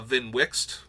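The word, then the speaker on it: Vnwxt: I also thought it might be uh uh Vin Wix uh because of how they pronounce fibble and zinder split so yes if you get VIN Wix it that is how his name is pronounced just a little fun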